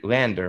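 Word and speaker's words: LANDR: um but to defend lander is that how you say it lander right lander land r right that that's spoke landon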